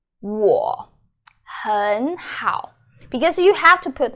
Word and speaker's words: 我很好: So you change the first third tone, which is 很. So 我很好, 我很好. That's how you say it, and it's a very classic example of many third tones are together.